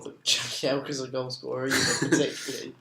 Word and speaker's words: Jagielka: like, "Hi, I'm Phil Jagielka," like in his Yorkshire accent? I haven't seen it. No. Yeah, because it's a Polish surname, you see, so it's pronounced differently to how it may appear.